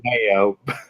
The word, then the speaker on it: DeMeo: It makes me think of Rob DeMeo, or is it DeMeo? Man, he taught me how to pronounce it I in our always group. Mayo.